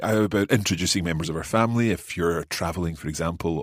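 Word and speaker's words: familj: saying family yes so you have that kind of j sound yeah swedish g says swedish j sound at the end of the word and it kind of almost is a syllable on its own isn't it okay so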